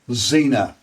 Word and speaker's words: Xena: pronounced Xander it's the way in which it's pronounced a little bit like females named x e n a which is Zena now there was a TV show and film